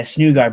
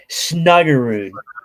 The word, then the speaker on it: Snuggerud: Yeah, Snugard, but it's Snuggerud.